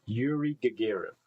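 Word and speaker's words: Yuri Gagarin: Yuri Gagger, that's his name. Yuri Gagger, that's how you say his name.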